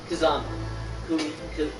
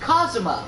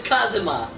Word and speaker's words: Kazuma: kazuwama to do everything i can do kazuma kazama did you just say it's kazuma it's it's pronounced kazuma it's kazuma just because a video game pronounces it kazuya